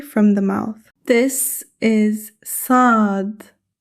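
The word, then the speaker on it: صاد: The articulation of sad is same area as seen but pronounced heavily. Sound heavy s. The important point to be noted is that the tongue rises slightly. The mouth becomes fuller. Practice with me now.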